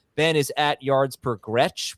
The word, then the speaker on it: Gretch: Ben is at yards per Gretch, which he thinks rhymes with catch.